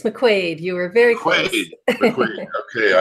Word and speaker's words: McQuaid: I've got a wonderful guest here today Makua am i pronouncing that correctly it's McQuaid you were very quick okay I apologize for